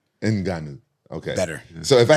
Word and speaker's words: Ngannou: all these year this I thought you pronounce it enanu oh I'm not even saying it right enanu oh my bad like that with deep voice enanu okay better so if